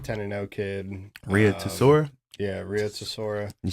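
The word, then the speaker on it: Rei Tsuruya: Yeah, Rhea Tesora.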